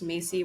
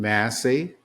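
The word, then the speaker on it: Massie: Tensions escalated as Representative Thomas Macy, working with Democrats, advanced a bipartisan effort to compel document release, drawing sharp criticism from Johnson, who accused him of political sabotage. I think he pronounces his name Massey, and he is a complete nut job.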